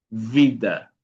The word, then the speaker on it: vida: Aquí dije que habíamos, obviamente necesitamos en portugués hacer el sonido real del sonido de la B pequeña, que le llamamos en español, ¿no? Que es un sonido labi dental. Son labi dental.